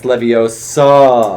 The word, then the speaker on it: Leviosa: Leviosa, it's Leviosa.